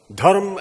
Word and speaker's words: धर्म: result so धर्म mean धर्म टू न धर्मा द मोमेंट य प्रोनाउंस धर्म इन इट्स इंग्लिश अवतार एस धर्मा instead of its actual pronunciation brand धर्म इट्स मीनिंग इट्स परसेप्शन